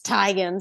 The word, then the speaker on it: Teigen: It's like Chrissy Teigen was in it. I know right. everyone says Teigen, but I remember that one video where she's like, "It's Teigen."